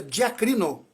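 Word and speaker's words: διακρίνω: discernir que é uma palavra grega que se pronuncia de acrino significa julgar corretamente julgar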